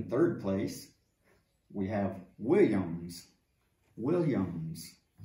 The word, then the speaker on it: Williams: Williams. Pronunciar com esse som de W.